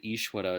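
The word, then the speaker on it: ईश्वर: daiva and eshwara there in the word Ishwara it's more like a w same in swiss dear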